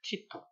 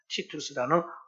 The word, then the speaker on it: 티투스: 딱 주님이 말씀을 선포하고 40년이 되는 그 해에 정확히 역사적으로 AD 70년에 로마의 그 장군이었다가 나중에 황제가 되는 티토, 그대로 발음하자면 라틴어로 발음하면 티투스라는 황제가 등장해가지고요.